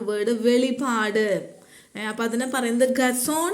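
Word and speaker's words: חזון: വെളിപാട് അപ്പ അതിനെ പറയുന്നത് ഗസോൺ എന്നാണ് അതിന്റെ ഉച്ചാരണം അതിന്റെ സ്പെല്ലിങ് സിഎച്ച് എസെഡഒഎൻ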